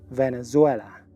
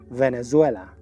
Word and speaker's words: Venezuela: durante Venezuela en inglés esa Z se pronuncia como una s que vibra Venezuela la v vibra y la z también la Z en inglés se pronuncia como una s que vibra Venezuela I'm originally from Venezuela